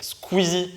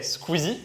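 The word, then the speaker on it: Squeezie: sous le pseudonyme squeeze qui se prononce en français squeeze et en anglais squeeze est un vidéaste et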